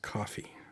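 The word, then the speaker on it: Ko-fi: latest do you have a Kofi page pronounced coffee no never even heard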